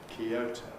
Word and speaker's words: Kyoto: result of a compression, which we can't do in this environment, because O is stressed. Therefore, we say Kyoto.